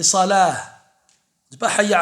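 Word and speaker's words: صلاة: On ne prononce pas le ta normalement. On ne dit pas zakat, salat. On dit zakah et salah.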